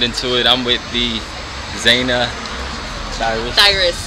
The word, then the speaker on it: Zanah Thirus: I'm with the Zanah Thirus. You said it right. Zanah Thirus, and we are here tonight at the Screening Room Atlanta.